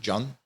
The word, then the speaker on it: Can: Turkey they call me Jun which is like C an and it's the Turkish form of John C is a J in Turkish yeah I just called